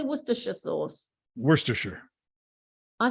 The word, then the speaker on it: Worcestershire: It's pronounced Worcester. Yeah. Yeah. Same in England, Worcester. Yeah. Like Worcester sauce. Do you say Worcester sauce or do you say Worcestershire sauce? Worcestershire.